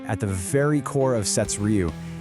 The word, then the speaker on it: SeTsRyu: That's pronounced Sets Ryu.